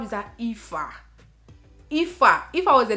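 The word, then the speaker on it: Aoife: How is that IFA? IFA. If I was a Nigerian spelling IFA, I would have probably spelled it as E-F-A or I-F-A.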